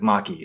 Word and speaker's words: Make: M A ke but I'm assuming Japanese it's actually pronounced like Maki so um this is